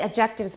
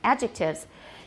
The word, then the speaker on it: adjectives: of words these are adjectives and don't say objectives by the way it sounds like something totally different adjectives and where's the stress